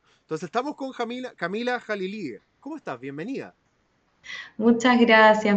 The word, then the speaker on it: Jalili: tal como se escribe Jalilie. Entonces estamos con Jamila, Camila Jalilí, ¿cómo estás?